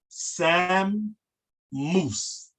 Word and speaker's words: samus: all the verbs actually, the letter in the middle must be pronounced on the left side and the right side. So Sam Moose. It's almost like it's two M's in it.